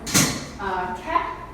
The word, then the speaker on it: K'é: K'é, a lot of people wonder what the pronunciation is, so think like K-E-H in your head. So K'é is a concept that